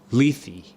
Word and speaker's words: Lethe: Wait, how do you pronounce the river? Mike. Lethe.